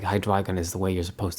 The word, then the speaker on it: Hydreigon: um I'd like read the guy's name and pronounce it in my head hydrion not hydron but I know it's like hydron is the way you're supposed to say it